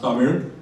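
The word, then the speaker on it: தமிழ்: So Tamil is actually the English pronunciation. It's pronounced Tamir and it's a classical language that originated in southern India.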